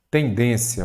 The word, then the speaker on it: tendência: Tendência, vamos lá? Tendência, qual que é a sílaba tônica? Den, não é isso? Então ela é uma palavra paroxítona.